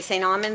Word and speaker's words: St. Amand: When I say St. Amand, they add an R, and there is no R, so usually that's how I'll answer, is St.